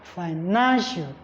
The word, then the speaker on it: financial: Then for words that end with IAL, not AL this time around, IAL, the primary stress falls on the 2nd syllable counting from the end. That's why you have financial.